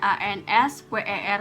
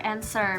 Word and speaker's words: answer: sama ngpronounce-nya kayak gimana misalkan S answer itu kan beda Tulisannya a n s w e r Tapi bacanya ituh answer bukan answer gua tuh sambil kayak